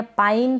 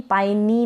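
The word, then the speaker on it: pine: पका हुआ यह है पाइन पाइ नी ना पढ़े पाइन मतलब चीड़ या देवदार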